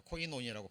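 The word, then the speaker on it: κοινωνία: 자, 코이노니아라고 발음이 됩니다.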